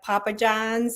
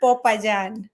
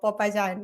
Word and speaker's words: Popayán: A lot of people want to say like Papa John's or something like that. Yeah. But it's Popayán. So Popayán.